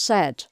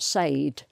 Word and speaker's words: said: say yesterday i said so that's pronounced said not sayed this is pronounced paid